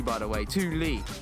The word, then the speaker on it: Thule: I got this insane roof box sent to me by Thule, and they said, it is pronounced Thule by the way, Thule, it's Swedish.